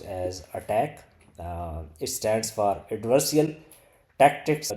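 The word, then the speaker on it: ATT&CK: The ATT and CK, this is pronounced as attack.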